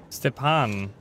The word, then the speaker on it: Stepan: Stepan. Alright, that's how you pronounce his name.